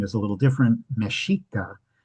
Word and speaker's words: Mexica: Mashika is the pronunciation that's used um for the original culture from which the modern country of Mexico gets its name.